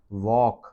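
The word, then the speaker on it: walk: वॉक में L silent है।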